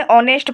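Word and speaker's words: honest: एन ऑनेस्ट person. H इसमें silent है।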